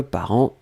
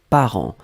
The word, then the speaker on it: parents: tout cas c'est clairement ici masculin parce que parents et masculin donc le deuxième mot c'était parents parents on l'écrit au pluriel ici part1 nts